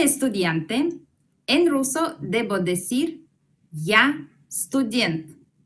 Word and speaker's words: я: Yo en ruso es я. Vamos a pronunciarlo. Я.